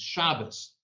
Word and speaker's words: Shabbos: Except in Yiddish, it's not Shabbat with a hard T. It's Shabbos, because the hard T at the end becomes a soft S in the Yiddish pronunciation.